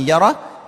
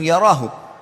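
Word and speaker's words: يره: Wa may ya'mal mithqala dzarratin syarran yarah. Kalau diberhentikan bacanya yarah, tapi kalau dibaca langsung yarahu. Siapa yang berbuat seperti biji sawi dari keburukan, pasti dia akan temukan dan dilihat atau diperlihatkan kepadanya.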